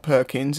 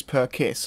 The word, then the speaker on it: Perkis: name from the star is not Perkins it is per kiss I am sorry I'm